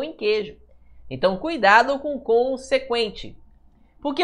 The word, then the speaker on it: consequente: consequente tá vendo ó Por que pessoal só aquele n ali aquele n não tem som tudo bem Ó É como se eu falasse assim ó con se quente o